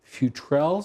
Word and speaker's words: Futrell: And these are the Futrell sisters? That's the way we're pronouncing it.